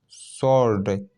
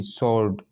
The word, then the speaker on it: sword: सॉर्ड, SWORD, सॉर्ड, यहाँ डब्लू क्या है, साइलेंट है, ठीक है।